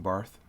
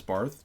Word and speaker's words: Barth: make fun of someone for mispronouncing barth bart as barth just simply because if they say barth that means they read bart and probably read a lot more bart and didn't have someone